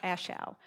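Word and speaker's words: A Shau: Now, if that's that's the way we pronounce it. I'm not sure exactly if in Vietnam that might be a slightly different pronunciation, but that's that's how we've always pronounced it.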